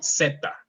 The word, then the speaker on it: zeta: and the last one, I know in English you kind of have a vibration, but we don't have, we only say zeta, Zeta.